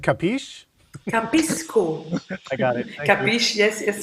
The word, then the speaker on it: Cappisco: Capisco. It's like Capisco in Italian, I understand. Capisco, but then with double P, because it's an app with double P.